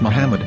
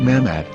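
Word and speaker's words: מחמד: yehuda's Hebrew English dictionary it is correctly pronounced as Muhammad not mammad so how we're going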